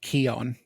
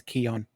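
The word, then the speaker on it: quillon: It looks like it's pronounced Keon.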